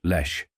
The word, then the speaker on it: Leche: candidate for Governor dick Lesh rhymes with flesh the lechy long ticket